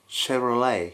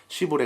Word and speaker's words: Chevrolet: brand And it was called Chevrolet. So I came back to Japan, I remember having a chat with someone about cars he said something about "Shiboree", which I thought I had never heard of So I basically pretended like I did know and moved onto a different topic But later I realized Are they, by any chance, the same brand?